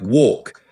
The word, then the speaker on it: walk: In British English, it's pronounced with a more open or sound, like walk, whereas in American English, it's closer to walk, with a slightly different vowel quality. It's a subtle but important distinction that really highlights the differences between the two accents.